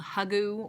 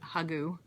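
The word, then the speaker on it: hygge: into it with in what's called hugu or h y gge u if you see that word that's what that how you pronounce it hugu um and it was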